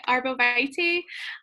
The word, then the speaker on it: arborvitae: Oils that it pairs well with is arborvitae, and I never say that right. Did I say it right? I see you nodding your head, Lisa. Okay, arborvitae, spearmint, cardamom, tea tree, and wild orange.